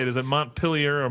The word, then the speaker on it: Montpelier: Is it Montpelier or Montpelier? Montpelier.